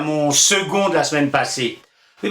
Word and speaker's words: second: Oui, parce qu'il voudrait savoir pourquoi on dit second alors qu'on écrit un C. C'est vrai, c'est quand même bizarre ce C qui se prononce G, c'est pas commun ça, hein? Franchement, second.